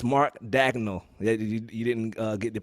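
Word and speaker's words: Daigneault: It's Mark Dagnall. You didn't get the pronunciation on that. Mark Dagnall.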